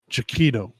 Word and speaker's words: Giacchino: Pronunciation. Giacchino.